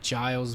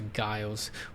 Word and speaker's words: Giles: minister andrew giles anyways it's gonna be guiles with jazza i've seen some news um reporter pronounce it giles but some other people pronounce the guiles anyway the minister of